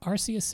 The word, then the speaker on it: Arceus: just absolutely giant feet is it pronounced archaea src is it's arceus in japanese and generally speaking you can go